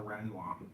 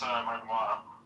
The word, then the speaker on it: Renoir: My parents own a Renoir. It's pronounced Renoir.